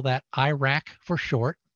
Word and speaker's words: IRAC: We just call that IRAC for short. It has nothing to do with a country that sounds about the same the way it's pronounced, but Insecticide Resistance Action